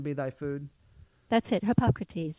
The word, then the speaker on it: Hippocrates: medicine let medicine be thy food that's it hippocrates hypocrites yes i wasn't saying i always mispronounced that name so i wasn't trying to